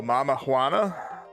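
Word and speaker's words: Mamajuana: You said uh the J is pronounced like a H. Oh, mama Huana.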